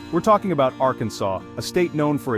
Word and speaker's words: Arkansas: their beloved state's name, so they passed a law making it illegal to pronounce Arkansas incorrectly. The next time you find yourself in the natural state, remember to pronounce it Arkansas.